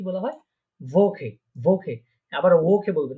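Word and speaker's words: Woche: ভোকে, ভোকে। আবার ওকে বলবেন না, কারণ এটা আমরা দেখেছিলাম এটা ভে, ডাব্লিউটা কি উচ্চারণ করার পারে ভে, তাহলে হবে কি ভোকে, ভোকে।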